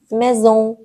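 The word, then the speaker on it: maison: لون لون یعنی ماه ام مثل مزون مزون باز انش نظله توی بینی تلفظ میشه مزون یعنی خونه ان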